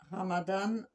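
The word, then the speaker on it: رمضان: Ramadan, Ramadan Ramadan, on roule le R. ou Ramadan. Alors moi j'entends Ramdan.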